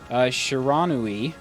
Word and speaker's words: Shiranui: I finally heard someone pronounce Shiranui.